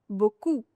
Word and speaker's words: beaucoup: Fourth one is if your final letter is P, it has to be silent. For example, beaucoup.